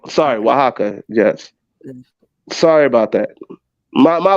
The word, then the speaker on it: Oaxaca: It's pronounced Oaxaca. Sorry, Oaxaca.